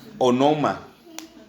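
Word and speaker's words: ὄνομα: literalmente pero ooma perdón onoma sin h sin h Sí con acento en la primera o así se pronuncia onoma Ono ma junto acento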